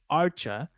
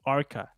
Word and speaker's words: Archa: I've always called them Team Archa. And it turns out that it's supposed to be pronounced Arca, which makes more sense because it's a C and H.